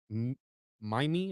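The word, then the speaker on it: mimeme: Mime, I think is how you say it, M-I-M-E-M-E, comes from the suitable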